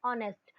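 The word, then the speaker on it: honest: जैसे कि ही इज एन ऑनेस्ट मैन, तो अपन ने बोला एन ऑनेस्ट मैन बोला, ना कि हॉनेस्ट मैन। और अगर अपन हॉनेस्ट मैन बोलते हैं तो गलत प्रोनाउंसिएशन होता है और अपना ये रॉन्ग हो जाता है, इसलिए हमें ध्यान रखना है इन चीजों का।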